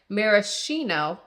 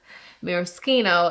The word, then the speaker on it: Maraschino: you said it wrong, but Maraschino is the way you pronounce it in America. Maraschino is the Italian pronunciation. So either one of them would be correct.